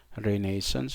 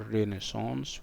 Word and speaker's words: renaissance: by the way uh the pronunciation of of the world is either renaissance and this is british english or renaissance which is obviously french and maybe american and because people kept asking me why are you using this kind of pronunciation for the word uh renaissance uh like i said this is uh british english and you might um